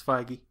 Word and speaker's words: Feige: just trust marvel uh kevin feige phage fiji frankie i don't know how to say his name it's feige yeah he's he's good